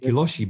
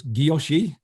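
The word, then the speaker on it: guilloché: right it's the gyoshi i usually say hiloshi but i was i've been listening to leslie on off bezel banter who is french and she says gyoshi so making sure i say it right so um french speakers will probably get me for this but it's gyoshi um which is that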